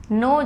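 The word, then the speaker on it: know: मतलब हिना यानी सीधा इस राज्य में लिखना नो जानना अंडों नहीं टिक एंड नोटिफिकेशंस में साइलेंट होता है तो इसको नाउ नहीं बढ़ेंगे उसके नहीं पढेंगे कि एनडब्ल्यू नो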